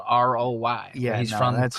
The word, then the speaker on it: Roy: It's like how that last name where French people spelled Roy, R-O-Y, and it's pronounced Wah.